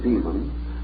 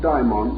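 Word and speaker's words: daimon: today for many years I made a point of dividing the pronunciation calling one our familiar term the term demon and the Greek form diamond or Babel the dictionary however prefers us to use the same pronunciation but let us bear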